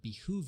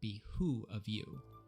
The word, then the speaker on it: behoove: When giving direction, a drill instructor may remind recruits that it would behoove you to listen closely, which is also frequently mispronounced or typed in written orders as it would be who of you A perfectly made bed